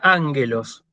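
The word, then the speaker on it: ἄγγελος: La palabra ángelos. La palabra ángelos es proparoxítona, acento agudo en la antepenúltima.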